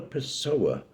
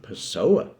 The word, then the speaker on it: Pessoa: Furthermore, he spent most of his life in Lisbon, which sort of rhymes with person, but whose Portuguese name, Lisboa, sort of rhymes even more with Pessoa.